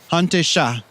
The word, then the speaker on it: Hante Shah: Hante Shah. And that in English is Eastern Red Cedar. Yeah, Shah is red, and Hante means the cedar itself.